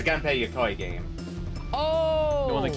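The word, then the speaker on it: Gunpey: So, it's a Gunpay game.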